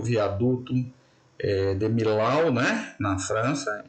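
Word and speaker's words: Millau: o viaduto eh de milau né na França em francês seria mi a pronúncia correta né esse viaduto ele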